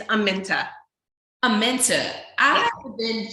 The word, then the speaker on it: Aminta: Aminta.